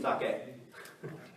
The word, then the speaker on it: sake: we also use Japanese sake anyone tube we say saki not sake so when you see Gaijin come to Japan and they say ah can I have some saki please that means sake right also karaoke you want